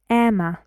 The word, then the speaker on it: Emma: is a name Emma Emma how many syllables Emma Emma to and you see this m Ma is trust you can hear this very very fast and very quiet vowel sound and I say this very strongly like I say m uh Emma listen expansive expansive three